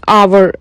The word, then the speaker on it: hour: Tam tersi bir saat demek istersem an hour kelimesi de hour e aslında h harfiyile başlıyorken e okunuşu hour olarak olduğu için başına n eklemem gerekiyor.